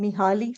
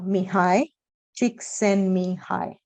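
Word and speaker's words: Csikszentmihalyi: together I call him mihali for lack of better expression but I know his his name is pronounced as uh mihai chick send me hi yeah um he's he's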